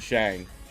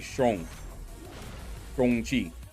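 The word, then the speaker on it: Shang-Chi: knew that it wasn't Shang. And the way that I usually pronounce those types of names would be Shong Chi, and I'm saying it kind of like that, not Shang, but Shong.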